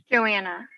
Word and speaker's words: Joanna: And is it Joanna or Joanne? Which? Joanna. Joanna. That's what I thought. Okay, I want to make sure I was saying it correctly. I thought it was Joanna.